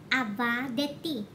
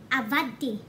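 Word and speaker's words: עבדתי: Avadeti. But, if you pronounce it, mga langga, you really don't say avadeti. Instead, you say avadti.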